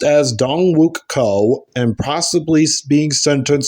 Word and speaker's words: Dongwook: 14 other people in a vicious attack now pronounced as dong wuk Co and possibly being sent to South Korea